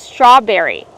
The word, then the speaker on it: strawberry: Kevin, how do we pronounce strawberry? Strawberry. We see the TR together making the ch sound, like train and truck. Together, straw. Make the R sound with the voice, not straw, but straw. Strawberry.